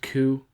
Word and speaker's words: coup: We haven't really talked much about Venezuela since the failed coup.